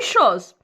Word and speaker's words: chose: ديزيري تري بيان اون شوز اون شوز كيما كتسمعوا كتكتب اس وكتنطق زد يعني جات اس ما